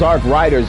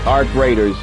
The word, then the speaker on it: Arc Raiders: I thought it was Arc Riders at first, but Arc Raiders. It's Arc Raiders.